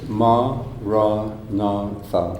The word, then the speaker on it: maranatha: La decimos silenciosamente en el interior, Say it as 4 syllables, ma, ra, na, tha.